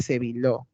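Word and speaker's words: Sébileau: Ligamentos suprapleurales o ligamentos de Sevillot. Se escribe Sevileau.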